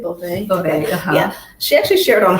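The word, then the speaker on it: Beauvais: Is it Bouvet? Bouvet.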